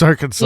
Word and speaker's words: Arkansas: Yes, it's Arkansas. Yeah, I can't believe that you pronounce it like that.